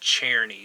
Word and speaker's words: Czerny: But his name is Henry, and it's spelled Czerny, but it's pronounced Czerny, so Henry Czerny.